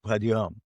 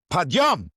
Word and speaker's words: Padyom: Is that how you pronounce it? No, not Padyom. Padyom.